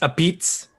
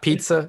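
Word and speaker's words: apizza: that good isn't it isn't it pronounced a beets not pizza it's like a pizz yes pizza yeah you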